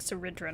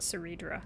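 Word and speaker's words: Cerydra: That's They're saying like Cidra, not Cedra.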